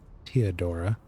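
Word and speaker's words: Theodora: warrant from teodora ourselves apparently it's teodora the H is silent um one of the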